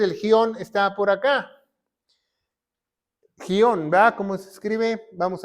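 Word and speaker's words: Gihon: Etiopía va entonces el gion está por acá gion ver cómo se escribe vamos a ver gion G I H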